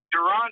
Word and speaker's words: Deron: buddy I'm doing well am I pronouncing your name the first name correctly Duron right I know I was gonna tell your boy that that hooked us up you he said Darren but dude I uh I've been used to that my entire life uh people call me